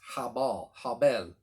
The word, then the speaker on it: Habel: a b e l but in the original hebrew it's got the h on the front of it h a b e l it's habal and what that means